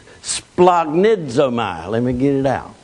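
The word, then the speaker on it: σπλαγχνίζομαι: It's pronounced splagnidzomai.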